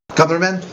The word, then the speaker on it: Northrop Grumman: So, what do you think of the Northrop Grumman, or Gumran? How do you say that? Northrop Grumman with it. Grumman.